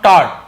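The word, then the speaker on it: taught: क्यों दिया है बोला, क्योंकि हैव के साथ थिंक का टीच का थर्ड फॉर्म टॉट, ठीक है, टॉट पढ़ेंगे, इसे टॉक्ड नहीं पढ़ेंगे, जी साइलेंट होता है, टॉट यानी सिखाया, इस प्रकार से।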